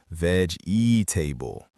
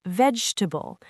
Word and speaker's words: vegetable: And again, this is one people tend to over pronounce as ve table. But in natural speech, it becomes vegetable. See what happened there? That middle syllable just disappears.